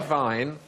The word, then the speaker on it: Wein: But the Germans say vine and spell it with a W.